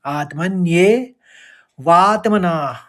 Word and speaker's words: आत्मन्यैवात्मना: यहाँ पर आत्मन्यैव, आत्मन्यै कहेंगे, आत्मन्यै, आत्मन्ये, आत्मन्ये वात्मना तुष्टस, इस तरह से पढ़ेंगे।